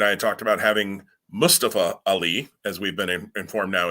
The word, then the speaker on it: Mustafa Ali: what you and I had talked about, having Mustafa Ali, as we've been informed now is the correct way to pronounce his name.